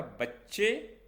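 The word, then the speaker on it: بچه: तो यहाँ आपको एक बात याद रखना है कि जब हे फारसी के किसी शब्द के आखिरी में आता है तो फारसी हम उसे एक ही साउंड से प्रोनाउंस करते हैं, जिसे हम हिंदी में आ में हम कन्वर्ट कर देते हैं, बच्चे, बच्चा।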